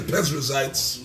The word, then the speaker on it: Perizzites: I said it right. Yeah, you got it right, the Perizzites. Yeah.